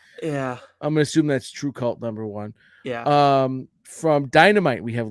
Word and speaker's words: TRVEKVLT: And then we have what I'm assuming is called True Cult #1, but it's spelled TRVEKVLT. Yeah. I'm gonna assume that's True Cult #1.